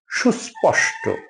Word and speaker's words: সুস্পষ্ট: সুস্পষ্ট, আমরা ভুল করে সুস্পষ্ট বলি, সুস্পষ্ট বলি, আসলে না, সুস্পষ্ট, উচ্চারণটা হবে সুস্পষ্ট, সুস্পষ্ট, সুস্পষ্ট।